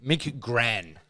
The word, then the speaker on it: McGran: Mick Gran.